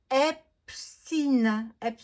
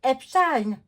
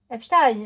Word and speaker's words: Epstein: Alors, ils disent Epstein. Non, non, ça se dit Epstein. Epstein, c'est un juif. Donc, il faut le prononcer à sa... comme on doit le prononcer.